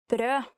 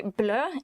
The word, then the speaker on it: brød: Actually, if you mistake the pronunciation of brød and say blø, it means bleed, so be careful.